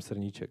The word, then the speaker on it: Srnicek: Doktor Srnicek je myslitel kanadského původu s českými kořeny, což mě trochu opravňuje, že jeho jméno vyslovuju takhle. Doufám, že to bude přijato i na druhé straně, protože si prostě nemůžu pomoct. Zkoušel jsem to vyslovovat tak, jak se to vyslovuje v zámoří, ale prostě říkám Srnicek.